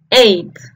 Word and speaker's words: eight: símbolo de la e el fonema de la e del número ocho se pronuncia con la boca un poco más cerrada que la e del número siete para pronunciarla ponemos nuestros labios en forma de una sonrisa y produce este sonido e ya sabemos cómo se